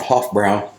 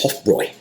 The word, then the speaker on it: Hofbräu: I've been calling a Hoffbrow and the correct German pronunciation is Hoffroy. The B R A not U is pronounced boy or Roy if I remember correctly. What's up? Huffroy versus Bohemian Riot.